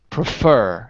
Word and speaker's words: prefer: do it like this let's say it like this prefer in the second syllable prefer prefer prefer that's